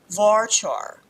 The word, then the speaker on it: varchar: Varchar or varchar, however you wish to pronounce it, would be a variable length.